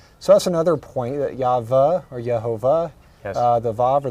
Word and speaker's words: Yahweh: Yehovah or Jehovah, a mispronunciation of the Hebrew Yahweh, the name of Elohim.